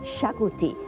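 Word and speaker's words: xacuti: I'm going to make a Goan classic chicken shakuti spelled with an exotic X.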